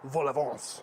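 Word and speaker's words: vol-au-vent: in puff pastry cups or Volvos which is how they say it in French anywho into a 400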